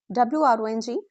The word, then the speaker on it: wrong: WRONG, wrong. Golden rule. If a word starts with WR, don't pronounce W. Just ignore it completely.